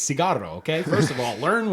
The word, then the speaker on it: cigarro: Like one dude's like yelling at a lady, "Cigarette, cigarette," and it's like, dude, that's not how you say it. It's cigarro.